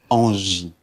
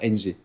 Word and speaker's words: Angie: locale Couleur Pays avec Angie. C'est ça? J'ai bien prononcé, et non pas NG.